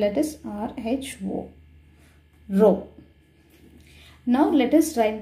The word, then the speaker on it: rho: It is spelled as RHO, rho.